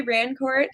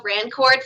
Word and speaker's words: Rancourt: It's actually not pronounced Rancourt. Fun fact, I am French-Canadian from Ontario. So it's actually pronounced Rancourt, but people around here can't roll their R's, so I just go Rancourt, just to make it easier for everybody.